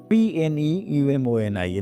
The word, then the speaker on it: pneumonia: Pneumonia, pneumonia. It starts with P, but we pronounce pneumonia. P is silent here.